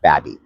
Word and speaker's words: Baby Point: Welcome back to our next Lunch and Learn, and we are here in Babby Point. I know if you look at the maps, it's spelt baby, but it is in fact pronounced Babby.